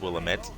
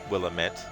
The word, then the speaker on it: Willamette: how I've always pronounced Willamette and I think even in Dead Rising 2 Tyrone King says Willamette as well two people it's an uncomfortable amount of emphasis on the am will aim it will